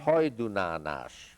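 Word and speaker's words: Hajdúnánás: That's pronounced Hajdunánas.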